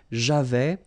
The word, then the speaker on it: j'avais: So j'avais, final S not pronounced, tu avais, il avait, final T not pronounced, nous avions, let's make this beautiful liaison here, nous avions, okay?